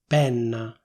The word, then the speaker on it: penna: like someone from Milan, you can say /pènna/ with an open E. That is, not with the /é/ sound, but with the /è/ sound: pènna.